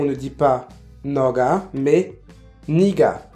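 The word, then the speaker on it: 네가: On ne dit pas naga, mais nega. On ne dit pas 저가, mais 제가. Et enfin, on ne dit pas noga, mais niga. Et ça se prononce bien niga, même si ça s'écrit avec un e.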